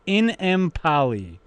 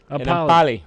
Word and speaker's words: Enemkpali: Pronounced Enemkpali. Enemkpali.